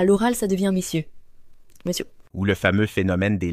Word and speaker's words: monsieur: Mais à l'oral, ça devient messieur monsieur.